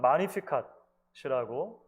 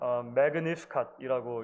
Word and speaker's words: Magnificat: 오랜 기독교 역사 속에서 이 마리아의 노래는 마리아의 찬가 또는 마니피캇이라고 불려져 왔습니다. 영어식으로 읽으면 Magnificat이라고 읽기도 하는데요. 원어에는 마니피캇이 훨씬 가까운 것 같아요.